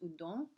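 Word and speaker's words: Houdon: look at jean antoine's udon h-o-u-d-o-n pronounced udon representation of george washington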